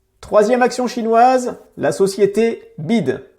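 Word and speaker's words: BYD: action chinoise la société bide alors le nom fait un peu bizarre en français donc je te propose de plutôt le prononcer à l'anglaise bewide la société conçoit et fabrique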